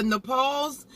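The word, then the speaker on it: Nopales: And I do have the Nepales. I think I'm saying it right, but it's spelled N-O-P-A-L-E-S.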